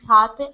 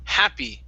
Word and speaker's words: happy: to the word happy make sure to pronounce that e sound at the end instead of Happ it's happy happy happy happy very good